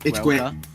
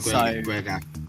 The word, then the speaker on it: Gaeilge: I think if you talk about the language of Ireland, it would be called Gaeilge, it's called Irish. It's called Gaeilge. So Gaelic yeah, and that's how it's pronounced in Ireland.